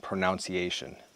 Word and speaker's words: pronunciation: The word is pronounced pronunciation. We see the letter U there between the ends, right? That's a short uh sound like cup and up. Pronun. Prenun. So the two first vowels are the same sound.